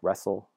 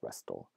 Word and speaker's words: wrestle: in a word like wrestle the T is not usually pronounced but historically it would have been pronounced as something like rest'll often is another case